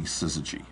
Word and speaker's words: Syzygy: We originally named the company Syzygy. S-Y-Z-Y-G-Y. Syzygy, Syzygy, Syzygy. No one could pronounce it.